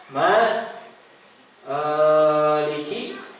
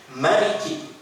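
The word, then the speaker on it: مالك: berasal dari nabi itu dibaca dengan panjang Ma ee iki dibaca dengan pendek Maliki nah gitu ya makanya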